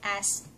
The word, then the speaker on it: bakas: Bakas ---- means foot prints or hand prints but if you pronounced the word baaa-kas (bakas) it means a share or contribution.